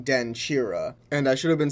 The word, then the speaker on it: Denkyira: being pronounced like ki the combination of k and y actually make a chi sound so when i say den kira i should have been saying den chira and i should have